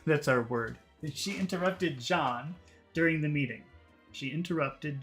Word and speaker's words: John: to do is imagine that there's a D in the front so it's not Jan but John JN you have to start with a D sound so if your language doesn't have that sound it could be very difficult to to make it to make it just imagine a d first John John that's how you fix that problem okay let's get rid